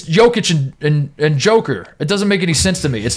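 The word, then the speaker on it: Jokić: is close to Joker but it's not it's pronounced it's jokic and and Joker it doesn't make any sense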